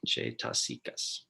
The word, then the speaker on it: cetasika: Every citta occurs nestled in a bed of supporting and enabling factors called cetasikas, pronounced Cetaskias.